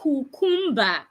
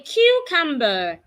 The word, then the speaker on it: cucumber: I can have cucumber do not say cucumba say cucumber so henceforth whenever you want